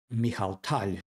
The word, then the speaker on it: Mikhail Tal: And we are following the game played by no other than Michal Tal, which is the right pronunciation of the player's name, versus Viktor Korchnoi.